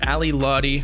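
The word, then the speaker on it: Ally Lotti: for in may earlier this year ali lottie and this time i pronounced it correctly for all the juice world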